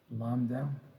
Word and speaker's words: Lambda: so this is Lambda Lambda the B is silent Lambda and the second